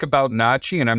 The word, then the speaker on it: NACHI: And I pronounce it NACHI, the National Association of Certified Home Inspectors.